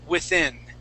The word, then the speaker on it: within: and on within okay both of those are short eyes within within okay also in the word